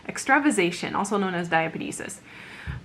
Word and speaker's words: extravasation: one of which is extra vision extra ization sorry mispronounced that one extravasation also known as diabetes